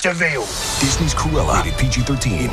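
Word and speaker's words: De Vil: He's spelled devil, but it's pronounced Deville.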